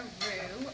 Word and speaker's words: roux: and broth, which essentially makes what's called a roux, R-O-U-X is how that's spelled, to kind of give you that thick